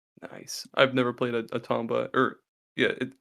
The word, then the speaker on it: Tomba: I've never played a Tomba or yeah you pronounce it Tomba right or tumba uh I always say Tomba um the uh the